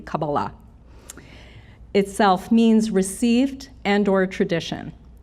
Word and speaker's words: Kabbalah: worthy of receiving it the word Kabbalah which is the correct pronunciation ozzie accent but the correct accent would be Sephardic which would be Kabbalah itself means received and/or